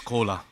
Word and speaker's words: Koura: Just on the stage, another collaboration is coming because my name is Koura. Everybody can understand. This is exactly same pronunciation of Coca-Cola.